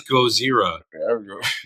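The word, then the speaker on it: ゴジラ: Yeah, it is Gojira. There is no L's in it, believe it or not. It's like Gozira is actually how it's spelled. Yep. I know. It's weird. It's weird because when you pronounce it the way it's actually spelled, you sound like you're making fun of how they would pronounce it. But they're pronouncing it right.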